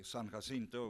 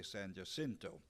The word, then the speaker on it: San Jacinto: to be here at your symposium for the San Jacinto. We said that's the way we pronounced it in San Antonio, but I guess I'm over here, I'm a politician, so I'll have to say San Jacinto.